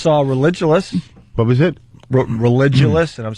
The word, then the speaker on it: Religulous: Religulous, and I'm saying it right.